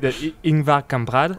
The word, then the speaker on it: Ingvar Kamprad: I'm hoping I'm pronouncing the name great. Ingvar Kamprad.